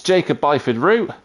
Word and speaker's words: Jacob Byford-Root: It's Jacob Byford-Root. He's in the Porsche 992, which rhymes with his name.